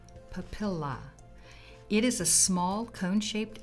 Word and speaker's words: papilla: Next, the derma papilla, pronounced papilla.